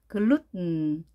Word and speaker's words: gluten: gluten 글루텐. 자, 소리가 코로 나오게 만드는 거죠. 비음으로 바뀌는 거죠. 글루텐. 한글로 이것을 쓸 때 글루텐이라고 많이 쓰는데요. 영어는 텐 발음하지 않습니다. 글루텐, 글루텐 이렇게 발음합니다.